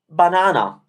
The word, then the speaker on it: banana: like that again so while in english you have the word banana with three different sounds for the vowel a banana we italians say banana with the same sound three times because